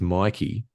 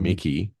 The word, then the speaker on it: Mikey: he says to make it easy to remember, it's Mikey like likey, not Mm. Mickey rhymes with licky.